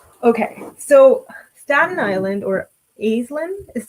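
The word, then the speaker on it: Aislyn: Okay, so Staten Island, or Aislinn is how they pronounce it in the audiobook, I think.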